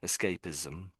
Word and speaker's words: escapism: So although it's an s a lot, it sort of comes out a bit zedy. I think for a lot of people um so you could do it as is ism ism but a lot of people put a bit of an a zed sound in it escapism.